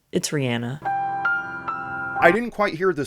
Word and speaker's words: Rihanna: Everyone says it Rihanna, but it's Rihanna.